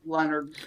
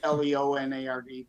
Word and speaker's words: Lenard: .us, and there's no O in Leonard. It's pronounced like Leonard, Leonard, but it's Lenard.